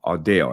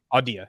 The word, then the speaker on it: Audea: startup company that you decided it's called um audio am I saying it right odia yep a deal okay dot so it's a-u-d-e-a